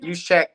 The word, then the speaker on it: Juszczyk: Kyle Juszczyk, how do we pronounce his name? Juszczyk. Over 2.5 receiving yards.